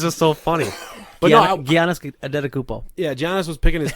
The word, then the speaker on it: Antetokounmpo: how charismatic he's supposed to be, and Giannis Antetokounmpo came off as just genuine, having fun, smiling young kid. How do you say his last name? Do you want to buy a vowel? Antetokounmpo.